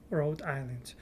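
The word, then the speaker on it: Rhode Island: road rad Island and H is silent RH Island yes we will find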